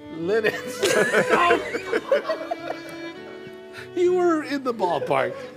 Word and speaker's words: Lititz: It's spelled. No, it's Lititz. Lititz.